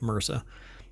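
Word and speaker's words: MRSA: progress in the fight against Mera uh MSA um but it's typically pronounced Mera by enhancing vaccine efficacy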